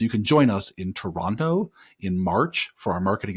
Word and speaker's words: Toronto: out that I pronounced Toronto correctly and didn't pronounce the T so Ben won't be